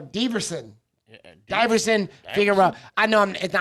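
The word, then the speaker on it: Deiveson: Everson Figueroa, is that it? Yeah, no, Diverson.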